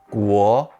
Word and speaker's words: 国: This character is pronounced 国 and means country.